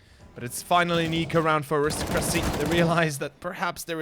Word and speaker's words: Aristocracy: Aristocracy is the professional pronunciation, by the way, if somebody might not be aware. Aristocracy is the correct way to pronounce this.